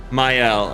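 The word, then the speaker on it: Maelle: The pronunciation trips some people up. I I literally called her male for so long and then I heard Versa say my and I was like oh I've been saying it wrong.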